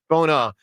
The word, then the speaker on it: Bona: Bona.